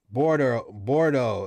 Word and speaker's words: Bordeaux: Bordeaux is how you pronounce it.